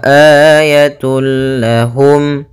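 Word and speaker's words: آيَةٌ لَهُمْ: Maka cara membacanya, masukkan tanwinnya kepada huruf lam tanpa ditahan gunnah. Maka bila gunnah tidak disertai dengan gunnah. Maka wa ayatullah, langsung wa ayatul lahum.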